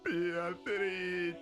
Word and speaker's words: Beatrice: Oh, Beatrice. Why do they say so Italian too? It is the Italian pronunciation of the name.